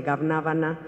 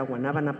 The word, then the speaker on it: guanábana: Para mi abuelo comer helado de Ganábana, que nunca lo supo pronunciar, era Guanábana, pero nunca supo, para él era uno de los máximos placeres en la vida.